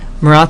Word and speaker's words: Marat: lot of different things this guy is morat he is a journalist he is a leader of a newspaper um Mora is actually how you say his name he's the editor of